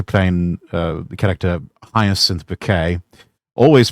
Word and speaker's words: Bucket: uh, the character highest bouquet, always pronouncing it bouquet, even though it's spelled bucket. And you've got god welcoming her to the pearly gates and saying, "Welcome, Mrs. Bucket." It's bouquet.